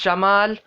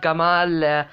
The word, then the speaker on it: Jamal: about president jamal abdel nasr and yes it's jamal not gamal um it it it became kamal in the